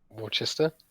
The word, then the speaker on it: Worcester: How do you pronounce Worcester, Rob? Worcester.